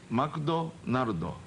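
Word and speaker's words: マクドナルド: Oh, McDonaldo.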